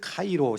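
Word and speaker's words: Chi Rho: 읽는다면 그리스도라고 읽어야 합니다 이것을 카이로 십자가라고 부른 이유는 영어로 자처럼 보이는 첫글자가 헬라어로 하이라고 있고 영어로 피자로 보이는 두 번째 글자를 헬라어로 로라고 있기 때문입니다이 카이로 십자가 라바나의 얽힌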